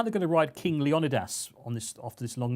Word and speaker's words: Leonidas: king leonidas is that what it is officially leonidas yeah king of the united he knows states